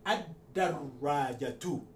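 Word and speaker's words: الدراجة: script, I explained that once you have the L followed by a letter carrying shadda, you suppress the pronunciation of lam. So we can ad-darajatu. Ad-darajatu. Again, we drop the on from ta marbuta.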